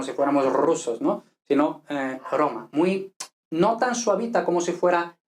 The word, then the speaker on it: romano: Entonces, romano. Ahora ya sí no sería fuerte, sería totalmente simple, ¿no?